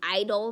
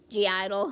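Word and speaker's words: (G)I-DLE: I know it's at I forgot the G is silent so you actually call them idle not G idle huh anyway that's my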